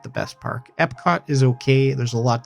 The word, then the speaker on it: Epcot: Epic Epcot. Sorry. Wow. That was a rookie pronunciation mistake.